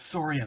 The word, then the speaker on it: Soria: those issues it's like it's like Gloria but Soria that's how it's pronounced yes you said it